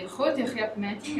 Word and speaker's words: Grote Griepmeting: Influenza Survey, which is in Dutch is pronounced the Grote Griepmeting.